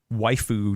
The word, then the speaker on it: waifu: A Yeston waifu GPU. What does waifu mean, Adam? I've never heard this term before. It's like the word wife, but then foo at the end.